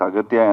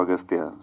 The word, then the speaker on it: Aghathiyaa: in the film uh your name is pronounced in different ways austa yeah in both ways it is pronounced yeah it's aatya and also austa so I don't know